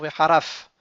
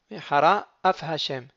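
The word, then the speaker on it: מהרה אף: Lorsque je veux dire Vehara, Af Hashem, donc il faut bien faire attention de ne pas dire Veharaf. Il ne faut pas avaler le Aleph. Et chaque fois qu'il y a un mot qui va être suivi d'un mot avec un aleph, il faut faire attention de bien articuler le aleph.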